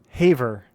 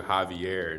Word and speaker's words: Haiver: And how do you say your name, man? Haver. Haver. So I accidentally called you, um, to my friend that told me about you. I accidentally called you Javier, and she's like, "Don't call him Javier."